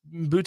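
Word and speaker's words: Boutte: betting on his team is that how it's pronounced it is okay it's boute okay uh kesan boute arrested for betting on his team and other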